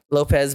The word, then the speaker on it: Lopes: I mean, Lopez, but he goes I mean, it's spelled Lopes, so I like to call him Lopes, but it's pronounced for Lopez.